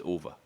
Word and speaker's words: Uwe: in the states his real name is UA it it because it's spelled uh UWE so I know what